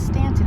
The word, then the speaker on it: Staunton: We were thinking about it, and it's definitely pronounced Stanton. Stanton was a politician who was in the government with Abraham Lincoln. It reminded me, like, yeah, no, it's Stanton.